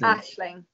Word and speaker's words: Aisling: Is it Aisling? Ashling. Ashling. Ashling.